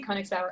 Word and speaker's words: Konigsbauer: little bit about you sure so i'm koenigsberg and really great job on the pronunciation people butcher my last name usually so